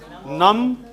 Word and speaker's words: numb: In all these, B is silent. So it is thumb, num, womb, and comb. Comb.